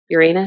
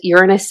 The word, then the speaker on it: Uranus: Uranus. Uranus. Uranus. Emphasis on the anus enters into Gemini.